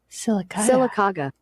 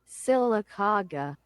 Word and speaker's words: Sylacauga: This is how you say the town. Sylacauga. And you can slow it down with a little bit of draw. Sylacauga. There we go. Sylacauga.